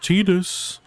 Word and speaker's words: Tidus: It's pronounced Tidus.